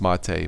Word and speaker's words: MATE: out Ubuntu man mate Ubuntu mate it's spelled may but it's mate my favorite Linux distribution